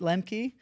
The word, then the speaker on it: Lemke: Today my guest is Lenkey of Dropkick Coffee. Did I pronounce that correctly?